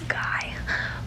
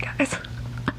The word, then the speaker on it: Guy: And then Guy, his name is Guy, they're French Canadian, so his name is Guy, but you pronounce it Guy up there.